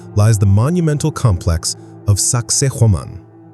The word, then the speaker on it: Sacsayhuamán: the monumental complex of Sacsayhuamán. Its name, often humorously pronounced by tourists as sexy woman, is more likely derived